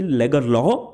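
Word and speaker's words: Lagerlöf: Swedish pronunciation है इसकी लेगरलॉफ, बट भाई हम तो अपने इंडियन स्टाइल में बोलेंगे लेगरलॉफ।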